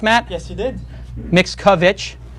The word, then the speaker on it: Mickiewicz: We have a great guest this week, Matt Mickiewicz. I pronounced it correct, Matt? Yes, you did. Mickiewicz.